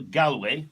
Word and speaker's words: Gallwey: before profit, Rita Lacey, Fianna Fáil, Gallwey, Renua, that's correct pronunciation? Correct, yes.